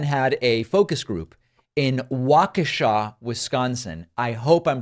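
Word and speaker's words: Waukesha: a focus group in wakesha Wisconsin I hope I'm pronouncing that correctly at one point I said wakisha and that's very much wrong I believe that it is wakesha don't of course they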